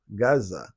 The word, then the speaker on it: Gaza: free fre free fre it's not how they say it it's just Gaza Gaza Gaza that's it